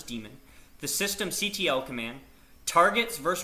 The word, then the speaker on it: daemon: In our next session, we're going to go over boot sequence, the systemd daemon, the systemd daemon, that's pronounced as daemon, the systemctl command, targets